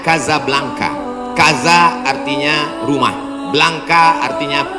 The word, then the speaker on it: Casablanca: nama negaranya Maroko ibukotanya tulisannya Casablanca cara bacanya kazab langka Kaza artinya rumah blanka